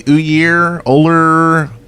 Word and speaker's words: Ullr: It could be Ullr. Ullr. He says it in game. He just says Ullr. Ull. Doesn't even pronounce the R.